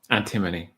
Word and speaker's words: antimony: This is what antimony. You don't know how to pronounce that one. What is it? Antimony. Antimony. Thank you.